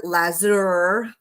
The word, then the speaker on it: Lasur: to be doing um laser l s Ur lazour it's how they say it in Hungary lazour um uh you